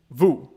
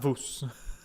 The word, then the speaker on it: vous: armstrong was talking about don't pronounce the s in vous vous not voos that gr that grouchy